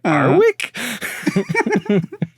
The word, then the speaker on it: Warwick: The W is silent because they're saying Warwick, and they say Arwick.